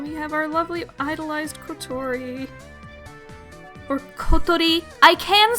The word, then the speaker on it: Kotori: I can say the name properly. Kotori. Listen to me. Kotori. Kotori. I can say it. But it's not very pleasant or easy to say in casual English conversation the way the syllables are structured. It's either in casual English speech I can either say Kotori, which I usually say, or Kotori, which is I guess kind of closer, but it really doesn't sound right in English.